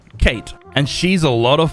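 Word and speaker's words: Cait: him by the way this lovely Irish lady's name is Kate but spelled with a c c a i t Kate and she's a lot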